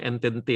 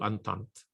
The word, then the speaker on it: Entente: Saya sebutnya Entente aja supaya pakai lidah Indonesia, tapi bacanya yang benar itu Triple Entente.